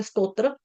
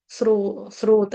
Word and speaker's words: स्रोत: यह कई बारी गलती से निकल जाता है मुंह से स्तोत्र बट स्तोत्र नहीं है। स्त्रोत नहीं है। स्रोत है।